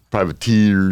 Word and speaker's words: Privateer: It's TEER on it. That's why I'm pronouncing it that way. Privateer to compete with.